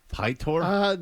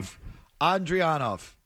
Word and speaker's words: Pyotr Andrianov: See if you can pronounce that name for me. Give it a shot. Pytor? This is Pyotr Andrianov. It's got to be Russian. Ukrainian. Pyotr Andrianov.